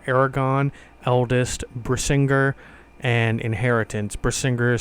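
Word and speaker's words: Brisingr: Brissinger is spelled B R I S N G R.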